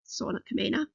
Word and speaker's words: Sauna Kamina: That is how you say their name, Sauna Kamina.